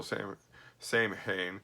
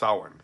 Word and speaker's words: Samhain: so first you know will the Celts vessel same-same hain which is actually pronounced Owen by the way I know where they get